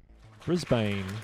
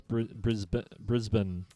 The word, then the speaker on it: Brisbane: Well, it's sort of in between. It says Brisbane. Well, that's how I pronounce it, Brisbane. So it's like Brisbane, and if you're Kiwi, it's Brisbane.